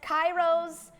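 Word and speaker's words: K8IROS: shoe line it's called I'm being told it's pronounced Kairos but I really am sick of you guys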